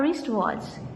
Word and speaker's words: wristwatch: My mother bought a wristwatch. Here again this word is starting from consonant sound. W is silent.